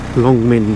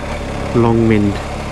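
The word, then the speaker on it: Long Mynd: Longmind, that's the one we're going on. Longmind, because a lot of people always email me saying, oh, where do you go?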